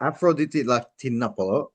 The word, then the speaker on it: Afroditi Latinopoulou: Afroditi Latinopoulou.